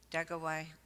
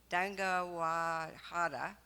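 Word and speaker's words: Deganawida: democracy with the peacemaker Dagawai. Let me say it right, I did it at first service. Dangawahada, creator of the Iroquois League.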